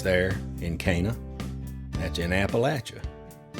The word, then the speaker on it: Appalachia: pretty good sunsets there in cana that's in appalachia it's pronounced appalachia so i'm going to take just about 30